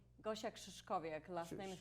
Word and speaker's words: Krzyszkowiak: how do you say your last name gauche exes coffee a classmate it's just a very difficult last